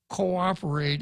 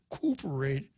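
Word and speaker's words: coöperate: the new york times cooperate is c-o-o with an omnot p-e-r-a-t the umlaut means this is not a diphthong and so you don't pronounce it cooperate you pronounce it co-operate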